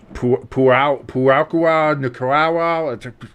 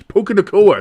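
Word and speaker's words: Puka Nacua: and you're still like Puakua, Nicaragua. This isn't a Moana movie, Jimbo. It's Puka Nakua. It's very easy to pronounce. It's got a rhythmic to it. It's almost got a melody to it.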